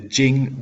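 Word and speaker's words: Qing: and be begin the Jing Dynasty that Q isn't pronounced like a q it's pronounced like a CH like the Jing Dynasty so here you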